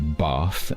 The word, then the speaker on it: Bath: is so they would the name of the city actually has 3 different pronunciations. In my native accent, it would be bath, and the object you have in your bathroom is the bath. In most of the country, that A sound is short, so it would be bath.